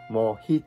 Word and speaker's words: Mojito: 莫吉托，我们用西班牙文发音，因为这是源自巴西的一种鸡尾酒 Mojito，我发音可